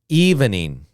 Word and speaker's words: evening: um okay now remember we can say it with three sounds or two sounds okay let's practice we'll